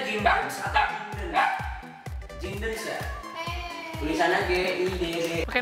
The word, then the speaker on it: Giddens: Bacanya Giddens atau Giddens?